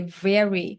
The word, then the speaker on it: very: So when you learn you listen to people you can also learn pronunciation how they pronounce pretty very we say very not wor we don't say wor very very very very